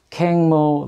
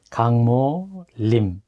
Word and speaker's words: 강모 림: 네, 저는 임강모라고 하고 영어 이름은 캥모 림이라고 미국 사람들이 발음을 합니다. 네, 림뭐 사실 한문으로 쓰면 수풀 림자를 써서 림이라고 발음을 합니다. 그래서 네, 강모 림 이렇게 영어식으로 발음을 하고 미국 사람들은 제 발음을